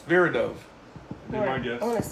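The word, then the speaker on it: Viridov: a Chulas trapis is a street can you pronounce my last name ver verid do it's ver do my guess I want to see it is Vivian it's ver do s v i r i d o v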